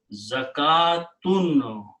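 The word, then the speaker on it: زكوٰة: Waw is not pronounced, just like in the salat, waw was not pronounced. Zakatun.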